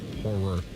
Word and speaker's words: horror: Rock Men and Ice I can't watch horror movies, but there was something about the Saw movies. What movies? What did I say? Horror. Two syllables. Horror.